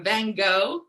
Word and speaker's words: Van Gogh: And like this artist, Vincent van Gogh, or Van Gogh, as I'm hearing is the proper pronunciation, his work from 1889 still resonates with us over 100 years since he painted this.